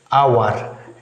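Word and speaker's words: hour: like a vowel like our h o u r our here h is not pronounced hence it sounds like our so before the word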